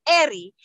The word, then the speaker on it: El: warrior, is El, but it's pronounced Eri, because we do not have the letter L, okay?